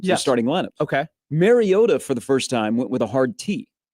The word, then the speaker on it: Mariota: Mariota for the first time went with a hard T. Okay, so I Mariota.